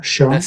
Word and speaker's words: Sean: Yeah, Sean, yeah, this is the name, yeah, Sean. spot-on. Absolutely spot-on, Sean.